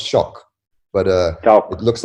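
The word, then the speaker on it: Choque: It's pronounced Choke. No, it's pronounced Shock, but it looks like Choke.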